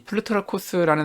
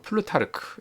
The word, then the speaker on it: 플루타르코스: 이 플루타르코스라는 사람은 우리가 영어식 발음인 그 플루타르크 이렇게 잘 알려져 있는 인물이고, 플루타르코스에게는 이제 가장 많이 알려진 책은 이제 영웅전이죠.